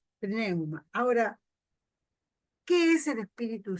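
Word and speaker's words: pneuma: Neuma se escribe con P. Neuma.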